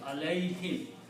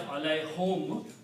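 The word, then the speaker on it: عليهم: We just, for the ease of the pronunciation, we pronounce this kasra.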